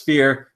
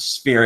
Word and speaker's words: Sphear: Now that's Sphear, S-P-H-E-A-R, not Sphere as you normally would spell it.